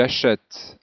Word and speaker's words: achète: la 6e phrase tu achètes un jeu pour ton enfant alors voici la correction pour la 6e phrase euh vous remarquez que il faut un accent grave ici pour avoir la prononciation achète je vous laisse mettre